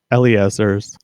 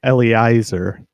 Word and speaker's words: Eliezer: the internet uh that eliezer's name is pronounced with EA as opposed to uh E.I which is how most people pronounce it most people say Ellie Eiser um but it's actually